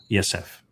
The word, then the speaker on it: Yepheth: Yepheth is the proper pronunciation of the second born of Noach.